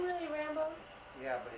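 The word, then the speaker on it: Rambeaux: Is his name really Rambo? Yeah, but it's spelled R-A-M-B-E-A-U-X.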